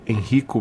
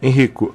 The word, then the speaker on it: Henrico: Bom, nós estamos conversando com o pesquisador do Departamento de Zoologia da Universidade Federal de Pernambuco, Henrico Bernard. A pronúncia é essa mesmo, Henrico?